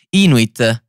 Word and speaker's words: Inuit: in realtà in realtà gli abitanti della groenlandia si chiamano inuit si pronuncia così oppure il singolare cell